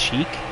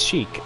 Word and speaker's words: chic: I did how do you pronounce cheek it's chic so like I'm it's like sheep but like chic like